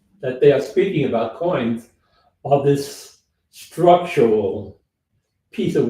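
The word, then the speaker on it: quoins: something in my book that I like the coins it is about structure that is either could be loadbearing or just something decorative coins is pronounced Q is it's spelled q uo i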